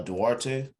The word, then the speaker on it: Duarte: i mean they got halliburton they got uh duarte that's how to pronounce his name um they got uh miles